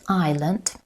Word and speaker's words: island: In the word island, the letter S is silent, not pronounced.